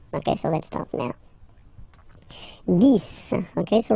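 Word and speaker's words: dix: so let's start now this okay so remember final X here is pronounced like s this this okay then okay so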